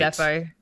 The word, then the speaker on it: Ndefo: Obi, is it Endefo or Nadefo? Isn't this I'm never. Indefo. Is it Indefo? I've never been it's right. Indefo.